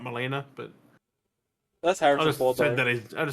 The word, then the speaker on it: Molina: was there just he also said the person's name wrong he said Melinda not Molina but that's har said that I just said